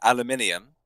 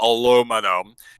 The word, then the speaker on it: aluminium: because we mentioned uh aluminium as is the correct way to pronounce it not aluminum uh he's now asking